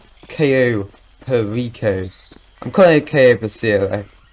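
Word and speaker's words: Cayo Perico: it actually i think i originally pronounced it the queso pacio and i have a lot of a title but damn i'm so blind why can't i just notice that it's called ko perico i'm calling okay for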